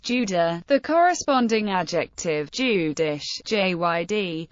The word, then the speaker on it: Jude: The German word Jude is pronounced Judah, the corresponding adjective Jüdisch, Jyd, and is cognate with the Yiddish word for Jew, Yid.